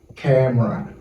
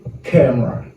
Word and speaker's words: camera: Ok, quatrième mot que nous allons apprendre qui gagne voyelle pas prononcée, c'est camera.